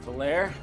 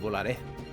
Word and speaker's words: Volare: All right, Valaire, I believe in you. your turn. I must remind you, it's pronounced volare.